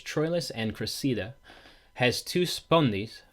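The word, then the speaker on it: spondee: Now I believe the proper pronunciation for this next word is spundi.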